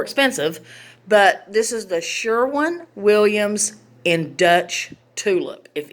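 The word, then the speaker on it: Sherwin-Williams: Kenny sure sure okay Sharon Sharon Sharon or Sharon how do you say that word Sherwin okay it's Sherwin Williams paint and he got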